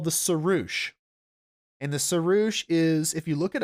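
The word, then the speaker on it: sirrush: one and it's called the sarush and the saroosh is if you look it up and it's spelled s-i-r-r-u-s-h the saroosh has one horn so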